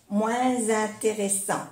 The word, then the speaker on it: moins intéressant: Es un adjetivo, pero sí que se pronuncia la S cuando es una vocal. moins intéressant, comme la Z, z, moins intéressant.